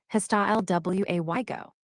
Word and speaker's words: hasta luego: Ready one, hasta luego. Meaning, see you later. In Spanish, reply you can say, hasta luego, or see you later. Pronunciation, hasta lway go.